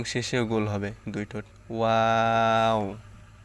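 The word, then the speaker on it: واو: তালুর সঙ্গে লাগে নুন ওয়াও ওয়াও হচ্ছে দুই ঠোঁট গোল করিয়া ওয়াও এর উচ্চারণ করতে হবে দুই ঠোঁট গোল করিয়া ওয়াও ওয়াও ওয়াও প্রথমেও গোল হবে এবং শেষেও গোল হবে দুই ঠোঁট ওয়াও হা হচ্ছে হলো শুরু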